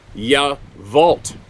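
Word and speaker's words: Yacolt: uh crotchety old guy it's spelled y-a-c-o-l-t but it's pronounced ya vault well why don't they spell it that way all right moving along you vote Washington to visit my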